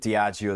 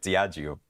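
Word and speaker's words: Diageo: But let's have a a look at Diagio there.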